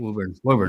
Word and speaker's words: Woburn: Come on, Woburn.